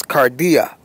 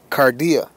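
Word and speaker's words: καρδία: we're going to click on that and it's kardia kardia it's the pronunciation and the first definition it says the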